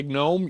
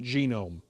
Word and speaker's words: GNOME: search screen okay good did you say gome yes I that's right I should pronounce it genome to give it the proper disrespect it deserves you're correct yeah I